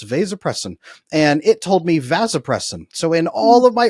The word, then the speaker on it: vasopressin: say there are so few people talking about vasopressin on the internet that I was a little embarrassed. I read your paper and I could not find hardly anybody else talking about vasopressin at all.